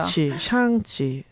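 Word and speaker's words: 尚气: 샹치 아니 근데 중국어 발음 중에 혀를 안으로 마는 게 있지 않습니까? 쌍이 말아야 됩니다. 샹, 사실. 샹. 샹. 안으로 예. 알 발음 하듯이 네네네.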